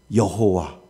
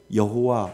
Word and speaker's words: 여호와: 후에 히브리어 자음이 야회 YHWH의 아도나이의 모음을 합쳐서 중세 라틴어식으로 발음한 것이 바로 우리가 흔히 아는 뭐요? 여호와.